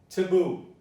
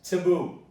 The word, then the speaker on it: taboo: Taboo. You stress boo, it's taboo.